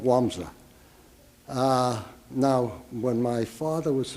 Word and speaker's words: Łomża: They were born in a town called Łomża, Poland, and it's spelled with an L, but after all, what do the Poles know about reading English? So anyway, it's called Łomża.